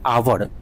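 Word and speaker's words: hour: consonant है, लेकिन इसका जब आप उच्चारण करते हैं आवर, हिंदी में सोचिए, लिखिए आवर, तो इसमें आपको ना यानी वॉवेल की तरफ फीलिंग हो, वॉवेल की तरह आता है आपका, इसीलिए इसमें एन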